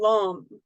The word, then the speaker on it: lam: Okay, and so even though they look like lamb, vam, ram, yam, ham, and om, it's pronounced like om. Okay, so lum, vom, ram, right, like that.